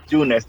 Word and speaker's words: Junes: En realidad, la mayoría me dice Yunes porque es con J que se escribe, pero está bien pronunciarlo Yunes.